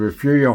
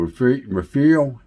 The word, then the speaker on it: Refugio: Down below, these are the arch windows that came out of Refugio High School, Refugio, Texas. And that's spelled like totally different than it sounds.